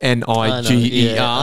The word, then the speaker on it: Niger: Spelt N-I-G-E-R. I'm going to say Niger. Yeah, it is Niger, yeah. That's how you say it.